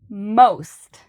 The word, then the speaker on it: most: Many learners have trouble with this sound, not so much because of the M, but because of the ST. Saying most. It's really difficult for your tongue to move in the proper ways to do an S than a T.